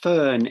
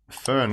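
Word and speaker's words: Föhn: shockingly no weave that's a shame uh although fern is fine remind me how you spell it again f f o e h n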